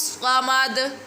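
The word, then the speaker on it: صمد: Lam will be bold and Swat pronunciation don't like a whistle sound. Allahu Samad.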